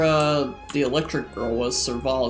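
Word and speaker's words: Serval: the electric girl was surval is how you say her name the heater you saw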